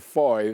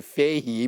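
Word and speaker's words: Fahie: to your people because we have been calling mr foy fahey because it's spelled f-a-h-i-e and i'm happy that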